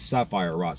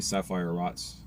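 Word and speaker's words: Sephirot: So told you my opinion on the serif uh the tense um tense sapphire rots. That's how you pronounce it properly. Sapphire rots.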